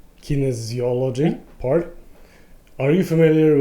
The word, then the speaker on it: Kinesiology: Doctor Who is into kinology that's how you pronounce it Kinesiology Kinesiology yeah and he basically build a a